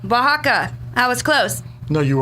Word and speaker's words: Oaxaca: city of oh Oaxaca Mildred how do you pronounce that OHA casa oasaka anyways Oaxaca Oaxaca that was close no you aren't yeah the